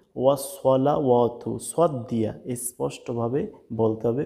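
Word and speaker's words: والصلوات: এরপরে দেখুন ওসলাওয়াতু এখানে ম্যাক্সিমাম মানুষই ভুল করে থাকে। দেখুন এই সরটার উচ্চারণ করে না। এখানে সিন দিয়ে বলে কি বলে? ওয়া সালাওয়াতু। ওয়া সালাওয়াতু সালা এটা সম্পূর্ণ কিন্তু ভুল এখানে কিন্তু সিন হয়ে যায় তাহলে বলতে হবে ওয়াস সলা ওয়াতু সদ দিয়া স্পষ্টভাবে বলতে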